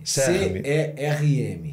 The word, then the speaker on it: CERM: Que a gente pronuncia deste jeito, não? Que é o CERM. CERM. C-E-R-M.